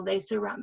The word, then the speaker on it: lacerum: Okay, so that's the foreman 'lacy-rum'. Okay. So lacerum is how you would say that, okay.